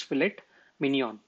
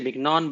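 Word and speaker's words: filet mignon: that what you need you need output as fillet Minion Okay the main course is fet Minion Okay that's how they pronounce it okay I mean we can say Minon but I don't think that's that's the way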